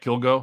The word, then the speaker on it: Kilgo: you for joining us are we saying your name right kill go pronouncing that right yes i didn't butcher that